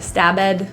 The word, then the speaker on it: stabbed: The B and D are pronounced really close beside each other. There is no pronunciation of that vowel E. Instead of bed, stabbed, stabbed.